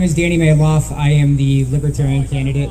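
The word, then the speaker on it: Malouf: guys like chuck said my name is danny mayloff i am the libertarian candidate for oh that's right looks like maloof it's pronounced nail off in my family candidate for u.s senate in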